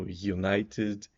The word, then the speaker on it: United: eu vou ver que tem um J perdido no início também né Assim como United University usual o u